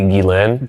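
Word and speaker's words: Ghislaine: I mean, just think about this is when Jelane Jizain Jane, how do I how do you pronounce that? It's technically Guilain. Gilane.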